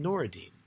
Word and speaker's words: Nur-ed-Din: And Noureddin is spelled N-U-R-ED-D-I-N. But if you met anybody of that name today, you would just call him Noureddin.